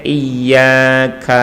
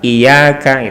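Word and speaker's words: إِيَّاكَ: Kayak misalnya iyyaka na'budu kan, iyyaka sama iyyaka gitu ya, tanpa tasdid. Yang satu pakai tasdid iyyaka, yang satu iyyaka tanpa tasdid.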